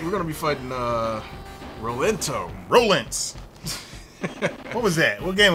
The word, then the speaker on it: Rolento: Rolents. What was that? What game was that? Alpha. Rolents. Yeah, Alpha 2. They didn't even say his whole. This is Roland. Like, okay, I guess that O is silent.